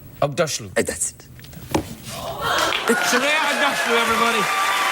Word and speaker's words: Aghdashloo: You're familiar with Ugg boots? Ugg boots, yes. Say Aghdashloo. Aghdashloo.